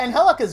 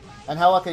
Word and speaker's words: Angelica: Angelica, you mean when you say... No, I'm not saying Angelica. I'm saying Angelica. Because I say Angelica, which is the Spanish pronunciation of it, is the...